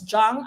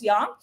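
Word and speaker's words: Jung: or Carl Jong no some people would pronounce Jong others would pronounce young or letter D sigon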